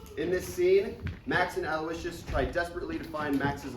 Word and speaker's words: Aloysius: father, Aloysius, that is the singular James, that's pronounced Aloysius, by the way, comes back and takes him to New Orleans to start a music career.